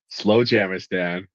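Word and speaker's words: Slowjamastan: Valley, Slow Jamistan.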